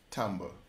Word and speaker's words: timbre: The next element is tone, color, which is pronounced timbre.